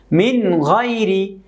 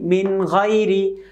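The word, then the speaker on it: مِنْ غَيْرِ: দেখুন, মিন গাইরি, মিম নুনজের মিন, গাইন ইয়াজবর গাই রাজের রি, মিন গাইরি। এখানে আমরা গাই নুন সাকিনকে গুণনা করলাম না, কেন? নুন সাকিনের পরে গাইন এসেছে।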